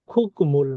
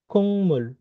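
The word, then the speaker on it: 국물: তারপর খুকমুল না হয় এটার উচ্চারণ কি হবে কুংমুল, কুংমুল, কুংমুল, কুংমুল, সব কুংমুল।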